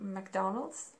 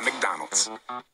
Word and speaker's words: McDonald's: Especially after quarantine, you must be missing eating McDonald's.